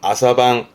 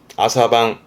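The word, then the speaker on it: 朝晩: 발음은 아사방. 아사방.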